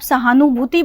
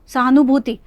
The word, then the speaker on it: सहानुभूति: तो लेकिन अगर आप सहानुभूति बोलेंगे, सहानुभूति, तो इसमें नू कम लगा लेकिन भू ज़्यादा लंबा है, ठीक है।